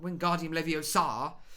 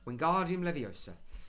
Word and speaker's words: Wingardium Leviosa: Not Wingardium Leviosa. Wingardium Leviosa.